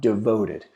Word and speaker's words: DVTD: a little bit about devoted and you hear us use that phrase devoted and I'll tell you how you say it but it's actually spelled this way DB TD ok now this can